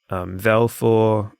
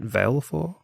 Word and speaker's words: Valefor: Valefor, is that how you say it? Valefor? I always said Valefor, but... I always took it as Vale as in like a gale of wind.